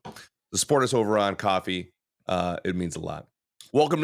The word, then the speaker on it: Ko-Fi: Coffee. It's pronounced confusing. coffee. It's pronounced coffee.